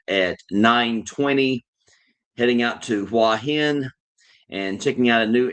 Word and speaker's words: Hua Hin: I am leaving tomorrow and I'm heading to oh my gosh, Hua Hin. That's how they pronounce it. Hua Hin. Uh you guys may know it by the spelling HUA then HIN.